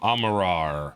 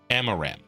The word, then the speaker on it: Amaram: to see High Lord Amarar. I forget exactly how to pronounce his name. Bright Lord Amaram. Amaram. Amaram, yes.